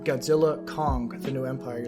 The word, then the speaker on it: Godzilla x Kong: Or, you know, I just found out it was supposed to be pronounced Godzilla Kong, The New Empire. Like, the X is supposed to be silent, which kind of bothers me.